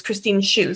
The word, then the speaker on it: Christine Shu: And I just want to jump in and correct my own pronunciation of our audience member who asked that question. It's Christine Shu, so apologies for that.